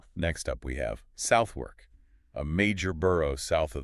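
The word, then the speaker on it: Southwark: The linguistic truth is that the stress shifts entirely to the first syllable and the W, it just it disappears or it's swallowed into the R sound. So the correct pronunciation is southwork.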